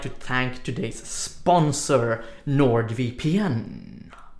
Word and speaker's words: NordVPN: to thank today's sponsor Nord VPN or no the VPN nerd via peein as it would be pronounced in Swedish not everyone knows this